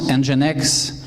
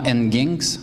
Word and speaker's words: Nginx: Donc, qui se prononce Nginx. Et non Nginx.